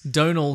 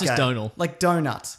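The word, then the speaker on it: Domhnall: hate the character Hux Donal Glee apparently it's pronounced like a donut with an L oh don't listen it's like Donal Logue I guess Donal like donut donut Tyson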